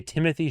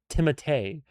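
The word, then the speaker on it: Timothée: It's a Timotee. His his name is actually Timote Chal Chalé like maybe well maybe not Chalé but it's Timote is how you actually say his name but everybody says Timothy so he just goes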